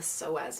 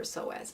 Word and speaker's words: psoas: obsessed with the fascia, but also with the psoas muscle. It's spelled P-S-O-A-S.